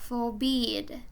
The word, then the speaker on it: forbid: 자, 얘는 bid를 세게 해야 돼요. forbid.